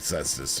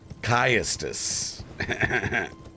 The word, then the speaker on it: cestus: would be the spike cestus right or excuse me kestus for being historically accurate here yeah some nerd